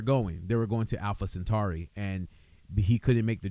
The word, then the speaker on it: Alpha Centauri: So not something Tari something's Alpha Alpha Centauri. There you go. Thank you. Right. Right. There you go. There you go. Thank you. Yeah, you said it right. You're correct. You're correct.